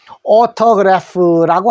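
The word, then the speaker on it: autograph: 자, 그래서 우리가 외국인들한테 만나서 유명인들한테 만나서 사인 받는 것은 오토그래프라고 한다는 거 알아두시고, PH는 푸 소리 납니다. 푸인데 P 발음의 푸가 아니고 F 발음의 푸입니다. 그래서 오토그래프라고 하신다는 거 주의해 주십시오.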